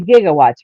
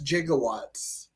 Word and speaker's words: gigawatts: one um doc doc says 1.21 gigawatts he mispronounced gigawatts I was gonna say it's supposed to be gigawatts right yeah right yeah but but they they